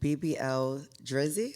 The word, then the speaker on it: BBL Drizzy: hit song, if I'm not mistaken, BBL Drizzy. Am Yeah, I pronouncing that right?